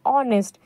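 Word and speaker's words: honest: ऑनेस्ट है ना, ये देखिए लिखा है ऑनेस्ट, असल में लिखा है हॉनेस्ट, लेकिन हम पढ़ते हैं इसको ऑनेस्ट।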